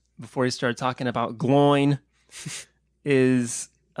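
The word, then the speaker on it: Glóin: First of all, it's Glowin', but except it's not, though. It's Gloin now. It's from now on, it's Gloin. There's no possible other way that can ever be pronounced by me.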